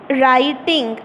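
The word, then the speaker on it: writing: नहीं हम बोलते तो यहां पर मैंने बोला कि डब्लू साइलेंट है मतलब हम नहीं बोलेंगे तो इसको बोलेंगे राइटिंग डब्लू आदि डे है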